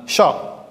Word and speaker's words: chat: Ce mot commence par la syllabe chat. C, H, A. Chat. Et voici les lettres CH qui forment le son ch.